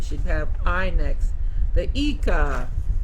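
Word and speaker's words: Ica: The Ika. Spelled I-C-A, pronounced Ika.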